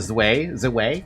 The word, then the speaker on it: Zwei: Is it Zwei or Zwei? Oh, it's Zwei then. If it's German.